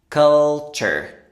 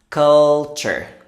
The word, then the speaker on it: culture: In American English, the ending often sounds like chur.